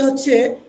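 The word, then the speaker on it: حاء: তারপরের যে হরফ আছে সেটা হচ্ছে হা। অর্থাৎ ছয় নাম্বার যে হরফটা আছে সেটা হচ্ছে হা। এখানে এসে আবার সেম এক আলিফ।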